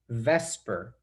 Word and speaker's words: VSEPR: epr theory and then typically it's pronounced vesper just so it's easier to say okay so vesper theory